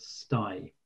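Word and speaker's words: sthie: running um an online church called stye which is spelled s-t-h-i-e it's a man's word for at home i kind of regret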